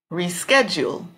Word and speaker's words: reschedule: Reschedule, reschedule. The strong syllable would be in the middle on sched, reschedule.